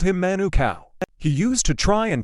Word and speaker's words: Manukau: There was a guy at my work whose name was Manukau, pronounced Manukau, but all the boomers called him Manukau.